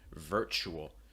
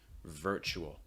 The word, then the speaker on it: virtual: are sounds before consonants in american english and r before a consonant is pronounced so make sure it's really clear virtual virtual not the more ver er really strong r sound raising that back of